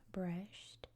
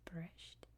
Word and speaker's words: Brest: So I'm just going to stick with Brest, which is, I believe, how you pronounce it here in Belarus. So we're just going to stick with that just for YouTube purposes, but just know that in my language it's pronounced Brest, okay?